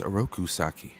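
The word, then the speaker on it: Oroku Saki: his real identity is orakusaki who is the shredder yes and it's pronounced arokusaki rokusaki yes okay one more pick right last pick i'm gonna go with food and drink for 100.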